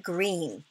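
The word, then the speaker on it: Greene: My name is Green. That's green with a silent E at the end.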